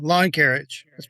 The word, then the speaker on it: Loncarich: Uh Kyle Hedges and Sorry, Frank, is your last name pronounced Lancerich? Yeah, Lawn Carriage. Long carriage.